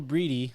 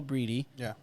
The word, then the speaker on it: Breedy: You have Belle Breedy, who on the blog I called her Breed because I didn't know how to pronounce it, but it's Belle Breedy, who ended up scoring the second goal, I believe.